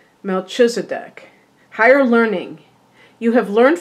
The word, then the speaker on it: Melchizedek: Oh, they say it's pronounced Melchizedek. Melchizedek is a high priest who is mentioned in the Bible's book of Genesis and many other sources too.